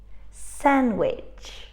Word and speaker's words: sandwich: one is silent and in this sentence we've got a silent D we don't say really